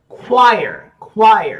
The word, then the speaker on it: choir: Choir. C-H-O-I-R.